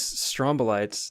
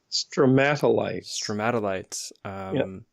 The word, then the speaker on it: stromatolites: So these strombolites, that's how you pronounce them, right? Stromatolites.